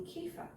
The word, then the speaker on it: kefir: to be making kefa this is pronounced a few different ways uh Kea CFA um there are probably other ways as well I'm not sure what they are but I just call it kefa what is kefa Kea